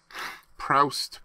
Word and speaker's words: Proust: Why don't you say how to pronounce that? Well, I don't know how to say it. Sorry. Proust.